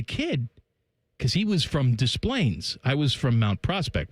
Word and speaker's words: Des Plaines: You pronounced the S there, huh? Des Plaines? I would have said Des Plaines. No, not Des Plaines. Des Plaines.